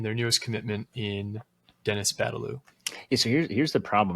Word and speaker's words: Badalau: I don't know how to pronounce his name. It's Badalau.